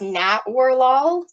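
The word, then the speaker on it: Natwarlal: And yeah, so that's believe from what I ran across, it's pronounced Nat Warlol.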